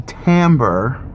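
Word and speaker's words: timbre: of squashed and it's going to sound the Tambor which is one of the characteristics of sound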